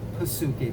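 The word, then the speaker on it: ψυχή: The Greek word used in the New Testament for soul is Psuche with a P, so it's, Psuche, but the P is silent.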